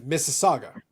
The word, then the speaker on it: Mississauga: um I'm in Mississauga so it's m-i-s-s-i-s-s-auga um so you start so it's like oh how do you pronounce it it's like all right so start off like Mississippi that's that's it that's that's all you need to do have a good night